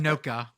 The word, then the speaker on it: Anoka: Oh God, I cannot say this Minnesota town. You're going to call it Anoka. Anoka, Yeah. Minnesota. That feels right.